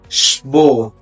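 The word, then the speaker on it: Sport: اللي معانا بعد كده شبوت شبوت يعني رياضه معى هنا مقطع الاسم بيتنطق شباه شباه وصل لحد ما تنساش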